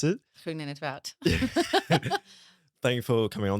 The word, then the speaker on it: Groen-in't-Woud: Might let you pronounce it. Groen-in't-Woud.